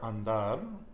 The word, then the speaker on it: andar: So, andr, andar, is a verb. Where are we putting that stress? And it ends in a consonant. At the end?